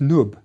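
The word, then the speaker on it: nbw: one more additional sign this is the word for gold pronounced nub it's a collar or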